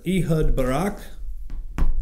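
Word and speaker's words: Ehud Barak: former Israeli prime minister he hood Barak that's how you say his name is going to be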